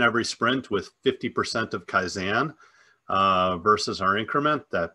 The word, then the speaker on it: kaizen: yeah nice uh yeah i pronounce it kaizen um just so you know how it's pronounced and no rule of